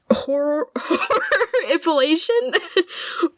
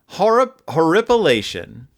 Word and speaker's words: horripilation: Horroripilation? Spell it. HORRORIPILATION. Horrorpilation. Horroripilation. Horror H. It's just horror. Horrorpilation. IPILATION. Horripilation.